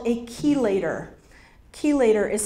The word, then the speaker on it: chelator: Chelator is spelled C-H-E-L-A-T-O-R, chelator.